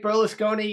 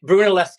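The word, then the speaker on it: Brunelleschi: Uh, am I pronouncing his name right? Burlesone. You've corrected me a couple of times. No. Okay. Brunoleski.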